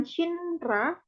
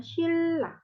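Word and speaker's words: 신라: Jadi bacanya tuh bukan Shinra, tapi bacanya kalau dibaca jadinya Shilla.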